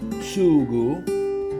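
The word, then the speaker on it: sugo: So there's no parsley in the sauce or sugu. That's the word. That's the Sicilian word for sauce. In Italian, it's spelled s u g o.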